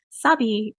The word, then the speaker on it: Sabi: It's either like you have the like more Americanized A the sound or the super Latina like Sabi, like when people say it like super Latino, I'm like, oh, where am I?